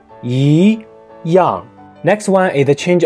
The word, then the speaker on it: 一样: For example, 一样 means the same, but it has to be pronounced as 一样.